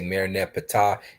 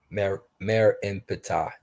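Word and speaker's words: Merneptah: They say Mer Nepatah. It's Mer N-E-N Patah. Love of Patah. Stella. That's his name. Mer En Patah is his name.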